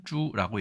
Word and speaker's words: 猪: 자, 중국의 경우에는 보통 일반 돼지를 저라고 얘기합니다. 발음은 쭈라고 얘기하고요.